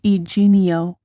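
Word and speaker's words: Yginio: It's pronounced eenio.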